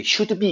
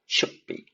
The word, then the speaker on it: should be: 우리 should be 이렇게 발음하죠. 절대 그렇게 발음하면 안 된다고 그랬습니다. 어떻게 되겠습니까? 드가 받침소리 했던 거잖아요. 그래서 should be가 아니라 should be.